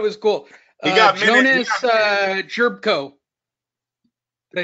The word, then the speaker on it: Jerebko: say that it was cool he got Jonas Jerebko did I say it right yep Jonas chirp